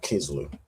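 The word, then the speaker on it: Kislev: it down as um Kisloo. So I suppose just different time periods and different um spellings, but from what I have, it's mostly said as um as uh Kizloo.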